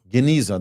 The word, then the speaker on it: genizah: Please correct me if I mispronounce it. Genizah? Genizah, that's correct.